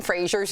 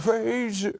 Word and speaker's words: Fraser: It turns out we've been saying Brendan Fraser's name wrong. We all thought it was Fraser, like the Cheers character, right?